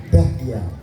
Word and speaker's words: Bahya: Bahyanya B H A Y A. Bahya. Jadi bah tebal. Kalau ngomong aksara Jawa kuno atau Kawi itu ada ba, ada bah.